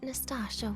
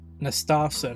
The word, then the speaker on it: Nastasa: But maybe in my opinion, you still have a chance to Now you're reminding me of what Nostasha once said. Nastasa, not Natasha.